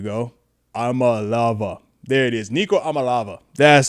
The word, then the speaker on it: Iamaleava: Nico, was it uh Amma Eva? Oh, I lava. There we go. Amalava. There it is. Nico Amalava. That's how you say his name. Nico Amalava.